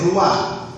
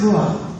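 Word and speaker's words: רוח: En hebreo, la palabra espíritu In Hebrew, the word spirit se dice ruah, is pronounced ruah, que quiere decir aliento.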